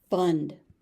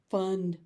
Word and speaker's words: fund: Fund. Fund. It's pretty easy. You do need to make sure that you pronounce that final D, because if you don't